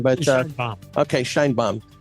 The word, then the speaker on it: Sheinbaum: Yeah, I think today's news with the new president coming in, the female, I can't pronounce her name, but Sheinbaum.